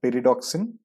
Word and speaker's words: pyridoxine: It is called pyridoxine. It rhymes with hexagon, and it is there in meat, nuts, vegetables, and others.